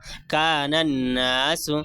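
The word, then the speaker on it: الناس: पेश सु कान नास यहां पे अलिफ और लाम दोनों साइलेंट है क्योंकि नून जो है रूफे शमसी में से है और अलिफ लाम हरफे शमसी के शुरू में आया है इसलिए अलिफ लाम को नहीं पढ़ेंगे बल्कि नून को नून से मिलाकर पढ़ेंगे जैसे कान नास अलिफ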